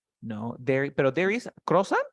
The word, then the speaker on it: croissant: Y quiero que lo pronuncies así, mira. Croix, y luego digas son.